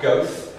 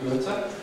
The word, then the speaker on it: Goethe: Not Goethe, okay. Or Goethe, or no, it's definitely Goethe. The idea of Goethean science.